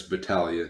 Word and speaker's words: Battaglia: Now, if you want to restart, it's Battaglia, technically. Battaglia. Okay. Yeah, I wasn't sure. Wasn't sure if I was going to get that that right or not. Nah, some people, I think, do pronounce it the other way.